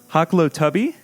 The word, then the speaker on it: Hoklotubbe: on my guest uh Chris hako tuby did I do it awesome yes that's it we were just talking